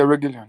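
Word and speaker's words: Reguilón: Obviously, the idea of playing Luke Shaw as a central defender and to accommodate Diogo Dalot or Reguilon. Have I pronounced correctly? Reguilon? Yeah, Reguilon, yeah.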